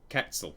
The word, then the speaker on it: Quetzal: Yeah, sorry Solar Quetzal, or Quetzal, the U is silent, for missing your resub there.